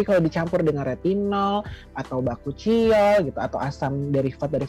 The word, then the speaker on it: Bakuchiol: Kita lagi ngomongin Bashol. Bacanya apa? Bashol, Bakuchiol ya. Bacanya apa sih kan sebenarnya? Bakuchiol atau Bakuchiol? Oh, Bakuchiol.